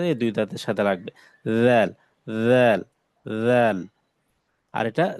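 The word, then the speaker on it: ذال: রাল, রাল, রাল। জিহ্বার আগাটা উপরে যে দুই দাঁত আছে এই দুই দাঁতের সাথে লাগবে। রাল, রাল, রাল।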